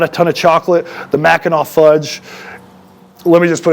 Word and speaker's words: Mackinac: mackinac um so and i keep wanting to say mackinac because that's kind of how it's spelled i'm pretty sure that's mackinaw fudge um kbs is one